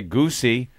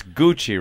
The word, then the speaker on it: Gucci: You wouldn't say Goosey or Gucci. It's Gucci, right? Ross would say Gucci. So I got Bonnie a Gucci.